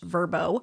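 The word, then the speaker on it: Vrbo: Airbnb and what's apparently pronounced verbbo used to offer a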